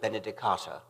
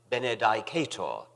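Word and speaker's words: benedicatur: I was one of the majority who pronounced this last word, Benedicata. Some of the older, classically trained fellows pronounced it Benedicator, which fascinated me, although I never dared follow them.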